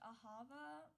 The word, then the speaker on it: Ahava: It's really supposed to be pronounced Ahava, but that's hard to remember.